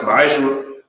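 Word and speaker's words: מעשר: It's pronounced ma'ashra.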